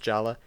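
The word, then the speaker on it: Jaller: is paddling across the lava, trying to get back to his good friend Jala, whose name is still pronounced Jala, even though it's spelled Jaler with an R.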